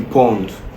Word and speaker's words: pwn: As you can see here, the pawn is spelled PW N.